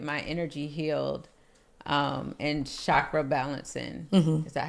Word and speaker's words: chakra: go and get my energy healed um and chakra balancing. Is that how you say it? Shakra.